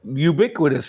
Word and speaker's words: ubiquitous: They weren't even that ubiquitous until way after I started flying drones. That That's pretty good. Ubiquitous. Yeah. That's not that big of a word. Quit us. It's four syllables.